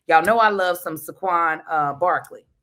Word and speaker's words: Saquon: Y'all know I love some Saquon uh Barkley. Regardless of if I'm saying his name right, y'all know is actually exactly how you pronounce it.